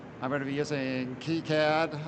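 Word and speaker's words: KiCad: Uh I'm going to be using Keycad. I've been informed that that's the preferred pronunciation, but uh since I'm an American, I might say Kyad or Freedom CAD at some point.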